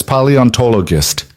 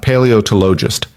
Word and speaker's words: paleontologist: He could hear them from the kitchen, Lena reading in different voices while Mila giggled and corrected her pronunciation. "It's paleontologist," Mila said carefully. "Not paleotologist."